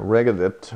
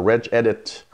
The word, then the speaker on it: regedit: that famous registry editor regedit or reg edit depending on how you want to pronounce it it's reg edit exactly um and the registry